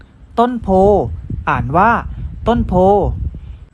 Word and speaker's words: โพธิ์: กาฬสินธุ์ อ่าน ว่า กาฬสินธุ์ ต้น โพธิ์ อ่าน ว่า ต้น โพธิ์ ก็ ผ่าน ไป แล้ว นะ ครับ สำหรับ คำ